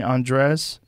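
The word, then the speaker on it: Andrés: how do you say his last name jose andres a-n-d-r-e-s is that i say his name he's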